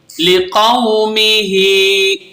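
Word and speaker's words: لِقَوْمِهِ: लाम ज़ेर ली, क़ाफ वाव ज़बर क़ौ, लिक़ौ मीम ज़ेर मी, हा खड़ा ज़ेर ही, लिक़ौमिही, फा ज़बर फा, क़ाफ लाम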